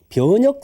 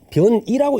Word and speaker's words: 변역: 올라섰을 때 하는 생사를 변역 생사라 그렇게 이야기합니다 변화한다는 역자를 이때는 변이라고 읽지 않고 변역이라 해야 됩니다 어떤 책에 보면 변이